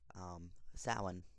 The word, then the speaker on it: Samhain: This is gypsywiccawytch, and I'm here to discuss Samhain, the Halloween holiday, with you guys.